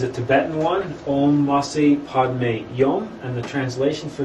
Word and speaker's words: Padme: we usually do, but the Padme is just pronounced Padme, as opposed to Om and then Ma.